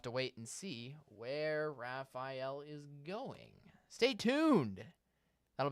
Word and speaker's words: Rafael: taking a look at Hurricane Raphael that is how you pronounce it we're at the our